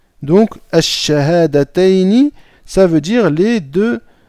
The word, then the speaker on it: Ash-Shahadatayni: Donc ici, c'est pareil, vous voyez, le shin fait partie des huruf Ash-Shamsiyya, d'accord? Donc on ne va pas prononcer le lam ici, on va dire Ash-Shahadatayni. Donc Ash-Shahadatayni, ça veut dire les deux attestations de foi.